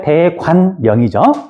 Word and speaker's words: 대관령: 자, 정확히는 대관령이죠. 근데 이제 발음하다 보면 대관령으로 발음이 되는 거고.